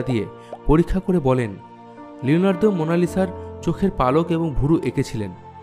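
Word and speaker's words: Mona Lisa: মোনালিসা একটি Italian ভাষা, এর সঠিক উচ্চারণ হল মোনালিসা, যার অর্থ মাই লেডি।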